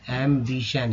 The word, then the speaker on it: एम्बिशन: एम्बिशन, एम्बिशन, एम्बिशन यानी कि TIN को सन बोलते हैं।